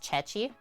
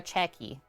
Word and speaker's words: ceci: at this pasta e I'm guessing it said like pronounced chechi pasta ichet or cheki I think it's chechi pasta with chickpeas recipe